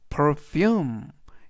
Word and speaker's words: perfume: 이때 포인트 단어 향수를 영어로는 perfume 이라고 발음하시면 되겠고요. 이때 강세는 you의 강세가 있습니다.